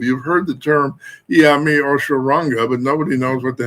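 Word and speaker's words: Osoronga: Oshoranga is how it's pronounced.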